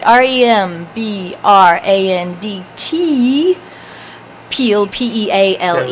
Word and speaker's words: Peale: get this right REM be RA and DT peel PE al e because I wouldn't that wouldn't